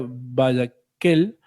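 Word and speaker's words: Vayakhel: Eh, si no me equivoco, se pronuncia Vayakel, la palabra, en hebreo,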